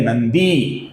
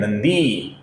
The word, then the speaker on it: नंदी: अब ध्यान से देखिए, सर्वप्रथम नाम है भगवान, न अपूर्ण है, फिर है भगहा, फिर है नंदी, दी दीर्घ है नंदी, फिर है वनमाली, ये